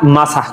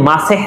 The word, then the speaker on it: মাসাহ: আল্লাহ তাআলা বলেছেন, আর তোমরা তোমাদের মাথা মাসাহ করো। সূরা মাইদা। দর্শক, আমি এখানে মাসাহ শব্দটি উচ্চারণ করেছি, অনেকে মাসেহ নামে চিনেন, মানে অনেকে শব্দটিকে মাসেহ বলেন, মাসেহ, কিন্তু সঠিক উচ্চারণ হলো মাসাহ।